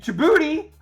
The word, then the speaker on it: Djibouti: All right, and Djibouti, Independence Day. Djibouti, Independence Day. That's how you pronounce it.